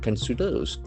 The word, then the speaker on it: consider: It considers. Consider. It's a beautiful verb. C O N S I D E R. So there are three syllables. Consider consider consider the accent for the second syllable.